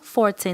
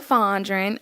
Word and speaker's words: Fondren: see your name right it's so close it's Fondren I know I get that a lot everyone's like how do you say hell last night I'm like pondering like fondues that wit are you